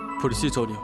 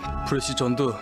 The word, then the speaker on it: 프레시전: 수동무 이거 좀 대주세요 어떻게 발음해요 프리시전 프리시전 마워요 프리시전 프리시 시이 아니라 프레시 예 예 프리시 프리시 만 그걸 좀 다시 보 자요 이건 프레시 전도 시연도 아니라구 프레시전 이렇게 바르면 정확하 누굴 날리는 거예요 야간